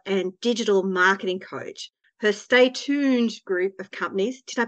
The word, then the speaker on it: Stay Tooned: Her Stay Tooned group of companies, did I pronounce that right?